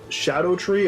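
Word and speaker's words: Scadutree: fragment it's actually pronounced Shadow tree apparently it's an Old English way of saying it but I have scadu just ingrained in my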